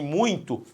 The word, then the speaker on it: muito: Você fala muito, ó, muito importante ou muito importante? Muito. A força tônica está no U é a vogal, o I é a semivogal, o ditongo aqui também é decrescente.